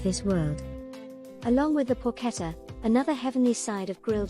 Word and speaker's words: porchetta: Italian pronunciation, porchetta, is a savory, fatty, and moist boneless pork roast of Italian culinary tradition.